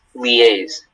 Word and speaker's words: liaise: Am I pronouncing that correctly? Yes, liaise.